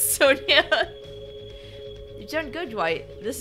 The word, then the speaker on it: Sonja: was always like no no no it's not Sanja it's Sonia you turn good white this is a lovely